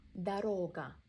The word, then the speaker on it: дорога: Дорога. Second O is stressed, first one we pronounced as a.